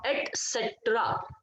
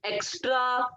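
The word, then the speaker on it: et cetera: होता है that is एट सेट्र एट सेट्र इज the correct pronunciation एक्स्ट्रा एक्ट्रा ये सब कुछ नहीं करना है ये एक्सेट्रा ये सब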